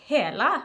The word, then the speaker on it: Hela: how to say this i want to say it's hella eyeshadow palette because i am norwegian and like that that's how you would say it in norwegian but then again sometimes